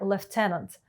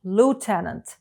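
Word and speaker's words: lieutenant: взводом Apple ЦУМ увага слово лейтенант має два варіанти вимови в Британській англійській - це левцементс в америкеш луценент Love знак розрізнення якого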